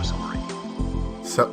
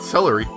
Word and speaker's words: Salieri: Antonio Salieri. No, not celery. Antonio Salieri. That's how you say it.